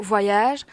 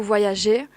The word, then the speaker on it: voyagé: Instead of je n'ai pas beaucoup voyage, you have to say je n'ai pas beaucoup voyagé. Because it's a past participle, so you have to put an accent in the E.